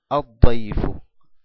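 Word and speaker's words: الضيف: Daifun más el artículo, Alef Lam, decimos Ad-Daifu, Ad-Daifu. No pronunciamos el Lam porque es una letra Shamsia.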